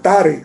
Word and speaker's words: Taré: Y vivió Nacor 29 años y engendró a Taré. Realmente es Tare, en el hebreo se pronuncia así.